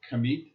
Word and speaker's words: Kemet: from your lineage, an ancient root in the Kemet? Is that, how do you pronounce Yeah, it? Kemet.